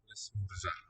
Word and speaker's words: esmorzar: Esmorzar. Silent R there it seems. Yes. L'esmorzar. Esmorzar. So I'm reminded of the French verbs ending in ER like aimer. That R is never sounded either.